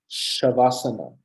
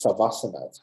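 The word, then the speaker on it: śavāsana: as an FH like shavasana shavasana is written with an s that's not pronounced savasana shavasana so in in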